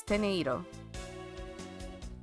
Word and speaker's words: Teneiro: Tenero. Because, you know, it's Teneiro. But, you know, I'm saying it with a more American accent, I suppose.